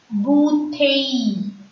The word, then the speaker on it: bouteille: E-I-L. E-I-L-L-E is pronounced as E. Soleil. Bouteille. Repeat after me.